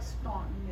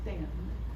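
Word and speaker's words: Staunton: The uh kind of in the middle of that it looks like Stuntton. It's pronounced Stanton.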